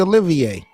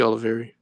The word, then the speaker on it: Olivier: I liked Quincy Olivier. I liked him. You're saying it wrong. It's Quincy Oliveri. Oliver, yeah.